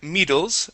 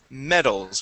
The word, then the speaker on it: medals: Instead of saying medals, the word is medals with a short E sound.